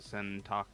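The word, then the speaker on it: 洗濯: which would be the sentakush okay i thought so that's what i did the first time well and pronounce the e yeah you it almost sounds like you said shanai so sentaku very good fantastic and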